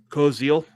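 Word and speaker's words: Koziol: Kilos, how do you pronounce it? Kosil Kosil.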